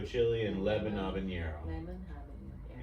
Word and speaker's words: habanero: Lemon habanero. Yeah, so the H is silent.